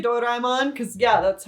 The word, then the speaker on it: Doraemon: from the movie his name is doraemon don't tell me it's pronounced differently i don't care if it's pronounced differently in a different language in japanese it's pronounced doraemon so i'm calling him doraemon